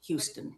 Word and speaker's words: Huston: It's H-U-S-T-O-N, Houston. But it's pronounced the same way.